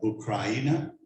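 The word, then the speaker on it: Україна: I have been going on YouTube and other things to make sure I have the right Ukrainian pronunciation of Ukraine. I think I'm pretty close to it. It's Ukraina. Yes.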